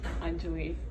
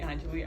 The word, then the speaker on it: Anjali: It's, well, the actual way to pronounce it. So it'll be like Anjali. Anjali, thank you. That's how you say it, yeah. Anjali. But other people call me Anjali.